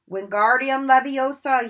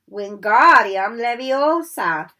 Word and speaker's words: Wingardium Leviosa: Wingardium Leviosa, he shouted, waving his long arms like a windmill. You're saying it wrong, Harry heard Hermione stop. It's Wingardium Leviosa. Make the gar nice and long.